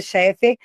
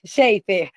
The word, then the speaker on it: Sheifer: Eh, Dr. Ricardo Cheffer Chifer, sempre pronunciei seu nome errado. Ricardo eh, Sheifer. Dr. Ricardo Sheifer, Dr.